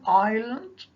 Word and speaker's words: island: An island, and S is a silent letter.